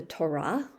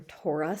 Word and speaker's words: Torah: sacred book is called the torah or torah sometimes is pronounced the torah is like